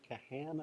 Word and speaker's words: Kahan: Are you familiar, Richard, with the research of Dan Kahan, I believe his name is pronounced, at Yale?